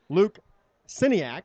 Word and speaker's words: Siniak: A nice return by Noblesville and number 22, Luke Siniak, I believe is how you pronounce that. The K is not there. It's It silent. wasn't a high kick, Troy,